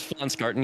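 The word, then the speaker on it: Pflanzgarten: That's FL garden. Yes. Yeah. You don't pronounce the P basically.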